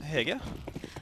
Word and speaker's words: Hege: As we wait, how do you pronounce it? Hege.